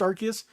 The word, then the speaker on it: Arceus: It is pronounced Arceus.